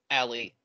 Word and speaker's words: a11y: So Alley gets you a way to take the 11 letters between A and Y and just be like, there you go, Alley. It's accessibility, but with only two syllables.